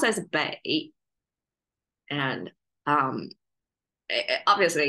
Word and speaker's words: 背: It's more carry the essential meaning of it, because bei is the noun form pronunciation, which is falling tone, which is the back.